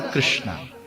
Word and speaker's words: कृष्ण: कृष्ण और कृष्णा देखिए कृष्ण जब हम बोलते हैं तब जब इंग्लिश में इसको लिखते हैं तो के आर आई एस एच एन ए is silent है कृष्ण फिर आर ए एम